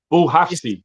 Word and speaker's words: Bouhafsi: Bouhafsi. That's how you pronounce it, bro. How do you pronounce it? Bouhafsi. Okay, Mohamed Bouhafsi.